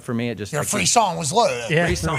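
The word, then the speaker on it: frisson: Yeah, so you need to fucking lock it in up there with your free song. Free song, pronounced free son, is a French word adopted into English meaning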